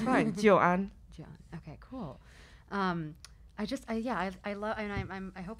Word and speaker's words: Joan: Joan.